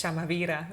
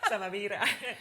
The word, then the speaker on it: SAMAVIRA: I say it really Spanish, SAMAVIRA, but it's... No, it's perfect. Yeah, okay. This is the most universal pronunciation, so I actually use the same. SAMAVIRA.